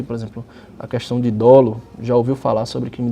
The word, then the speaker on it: dolo: Seguindo, eu elenco mais algumas palavras aí, por exemplo, a questão de dolo, já ouviu falar sobre crime doloso, né? Importante a pronúncia que é dolo e não dolo.